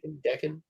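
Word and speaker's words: Daken: Dakin.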